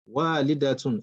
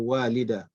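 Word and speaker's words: والدة: Like I mentioned, as we progress in our studies, we'll eventually do away with this star in pronunciation. But for starters, let us identify the tar. Later, we'll just say walida when we become experts. Okay, but for now, let's emphasize on the tar.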